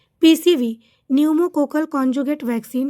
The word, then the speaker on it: न्यूमोकोकल: इसलिए इसको समझने में दिक्कत हो रही होगी लेकिन जान जाइए कि पी से शुरू है लेकिन ये साइलेंट है पी और एन से ही पढ़ा जाता है। इसलिए इसको न्यूमोकोकल कंजूगेट वैक्सीन के नाम से जाना जाता है।